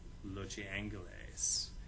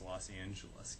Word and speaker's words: Los Angeles: The paper of record insisted that the proper pronunciation was distinctly Spanish, Los Angeles, a pronunciation it actually printed under its masthead for several years.